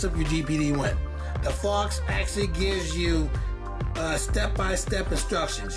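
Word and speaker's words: Phawx: Fox is spelled P-H-A-W-X.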